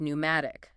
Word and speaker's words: pneumatic: Words like pneumatic and pneumonia. They came through Latin from the Greek word for wind or breath. Modern French speakers still pronounce the initial P, but English speakers abandon it.